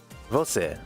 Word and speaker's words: Você: Don't pronounce it wrong. Oh, you. All right, let's see. Você. Você.